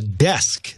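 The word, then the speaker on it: DESQ: The Rack and the Desk, D-E-S-Q.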